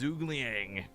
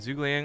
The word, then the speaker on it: Zhuge Liang: Protoss he is fear the best advice I ever got to pronouncing his name correctly was tried to see zergling as if you had a stuffed up nose so exactly yeah yeah